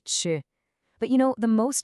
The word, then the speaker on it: 吃: The character is pronounced ch.